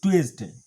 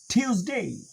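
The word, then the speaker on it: Tuesday: তারপর আমরা বলি মানডে হবে মানডে তারপরের দিনটির উচ্চারণ আমরা করি টুয়েসডে টুয়েসডে বলি কিন্তু আসলে এটার সঠিক উচ্চারণ হবে ঠি টিউস টিউস টিউসডে টিউসডে টিউসডে twice না টিউস টিউসডে টিউসডে তারপরে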